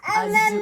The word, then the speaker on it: azure: And it's azure, not azure.